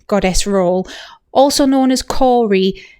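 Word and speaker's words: Kore: role also known as Corey spelled k o r e so someone else may pronounce that differently but I say Cory and that means young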